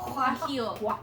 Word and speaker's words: guajillo: Guajillo. No, Guajillo. Yeah, you do not pronounce. Wait, G's, Guajillo like- Monster.